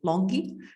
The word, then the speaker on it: LONGi: let's move to longi I don't know I like the word logic but I always hear when we have the meetings with this friend that is longy so let's pronounce them along it in the correct way uh so uh with